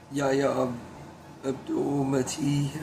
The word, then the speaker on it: Yahya Abdul-Mateen: I think that Yahya Abdul-Mateen, I think is how you say his name.